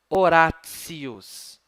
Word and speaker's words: Horatius: A letrinha TI, em latim, a letrinha T, na verdade, diante do I, tem o sonzinho assim, ó. Tsi, tsi, ts. Então, preste atenção, o nome de um importante poeta latino, Horatius.